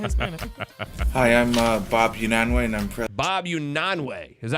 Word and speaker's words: Unanue: Hi, I'm Bob Unanwe, and I'm president of Unanwe. Unanwe. Unanwe. He said Unanwe.